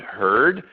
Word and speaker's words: heard: They'll see words like word, bird, heard, W-O-R-D, B-I-R-D, H-E-A-R-D, and they'll think that they're pronounced differently. Word, bird, heard are pronounced the same, even though they're written differently.